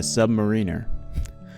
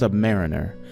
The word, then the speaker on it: submariner: He was a sailor and a submariner. I was recently told by a former shipmate of my father that it's not pronounced submariner, as that would mean less than a mariner.